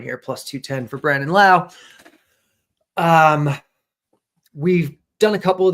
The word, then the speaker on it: Lowe: We're going to be going to Brandon Lowe, and we're going to be going specifically to his walks market here. Yes. Brendan Lau, Tom, you got to get your baseball pronunciation right here.